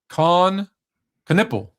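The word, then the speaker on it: Kon Knueppel: Um, Khan Canipple.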